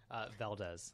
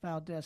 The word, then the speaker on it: Valdes: Alex, how do you pronounce your last name? Valdes. Valdes.